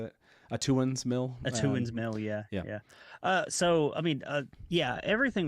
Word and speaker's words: Atuan's Mill: Atuan's Mill, yeah.